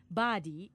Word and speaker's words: birdie: to say nice birdie Japanese pronounced the gulf term birdie as badi in Japanese without the r sound okay now that's why